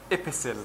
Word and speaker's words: epistle: And the word letter means risala, or, epistle. Do you know this word? With a silent T, like castle, like whistle, like whistle.